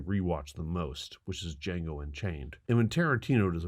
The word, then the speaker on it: Django: The D is silent. I know. D is silent here, baby. Name-checking Sergio Corbucci. in Once Upon a Time shows how much Django Unchained wears its heart